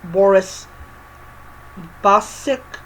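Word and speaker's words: Boris Bacic: The next one I am reading is um 25 gifts of terror by Boris Basic that's how you pronounce the name.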